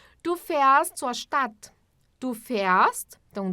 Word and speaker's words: fährst: Nós agora estamos usando um A tremado. Que é, quando a gente pronuncia como um E, né? Du fährst zur Stadt.